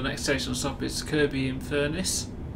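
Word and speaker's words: Kirkby-in-Furness: next station stop is kirby in furnace pronounced without the k in it kirby is also another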